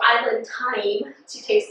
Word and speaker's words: Thai'mmm: Today we have Island Thai'mmm. And I'm not just saying it weirdly. It is spelled t-h-a-i apostrophe m-m-m.